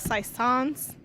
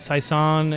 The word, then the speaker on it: saison: Okay, so the next meeting will be about saison, and the first topic will be how do we pronounce that? Because I talked to a guy from Belgium. He said saison. Saison. It's like croissant, only saison.